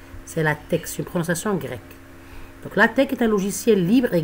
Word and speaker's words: LaTeX: grecs c'est à dire on prononce pas le hic c'est pas latex c'est la texture procession grecque l'ateq est un logiciel libre